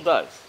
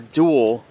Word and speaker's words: Doel: it still it still does it's it's bizarre walking around here this almost completely deserted Town pronounced do or duel sits near the border